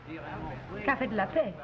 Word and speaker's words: Café de la Paix: Café de la Paix. Café de la Paix, huh? What'd they put an X on it for if they wasn't going to use it?